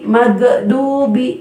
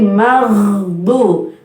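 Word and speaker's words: المغضوب: Ghairil nah, gha banyak juga yang mantul, magdubi, padahal gha bukan qalqalah, gigi. Kalau pakai bahasa Arab pakai ghain jadi ghairi ya. Nah, di sini bacanya jadi maghdu, maghdu ya.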